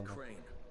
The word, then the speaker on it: Crane: My name's Crane. Yeah. Crane? And explode. Crane rhymes with train and brave and sane.